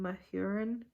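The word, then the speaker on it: Mahurin: and honey by shelby mohoren said hey you pronounce her last name my urine my hearing but i have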